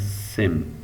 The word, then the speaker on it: SEM: structural equation modeling uh it's abbreviated as scm and pronounced as same so scm or sim is a family of